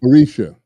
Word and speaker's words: Orisha: So Nubian Chronicles brings us into an alternative realm ruled by Osha, right? Am I saying it right? Orisha, Orisha.